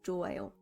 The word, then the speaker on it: 좋아요: Looking at each syllable separately, the pronunciation would be 촉 and 아요. 촉, 아요, but it's pronounced as 좋아요.